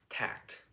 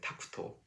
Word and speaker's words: Takuto: Uh, and so with this background, the anime films the journey of this uh, young pianist, Tact, from, or in the Japanese pronunciation, Takuto, who is the son